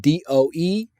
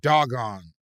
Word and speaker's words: Dogon: But at the end, they made it very clear it's pronounced DOE-GAWN. Oh, Dogon. Yeah. Oh, I thought it was like doggone.